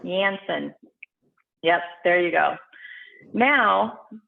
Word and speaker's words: Janssen: each one of the what is it yanson is that how you pronounce it marina you'll have to teach me again but the j and j and the moderna it's yams janssen yep jansen yep there you go